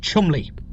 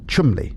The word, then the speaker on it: Cholmondeley: It's pronounced Chumley. Chumley.